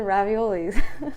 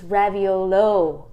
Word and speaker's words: raviolo: things to us and they said it's raviolo what yeah like you're saying it wrong and I'm like who